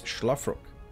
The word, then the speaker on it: Szlafrok: It's not with an S, but it's an Esh, basically. It is our red Terran, representing no team currently. It's Szlafrok.